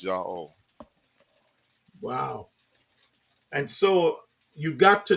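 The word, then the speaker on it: Yahweh: me showing you that the only correct way to say his name is yah wow and so you got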